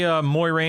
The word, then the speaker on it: Moiraine: They say Moiraine in the show. I think they did say Moiraine in the show, and that's why I pronounced it that way, yeah.